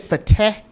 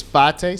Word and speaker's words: Fateh: I said Fateh in my previous videos, but it looks like it's Fateh, so we're gonna try to pronounce it correctly.